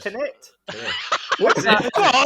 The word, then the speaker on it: Tenet: Because I always thought it was Tenant. No, there's not an N in it, mate. It's Tenet.